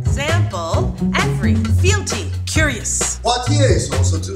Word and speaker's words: Poitiers: Poitiers is also two syllables.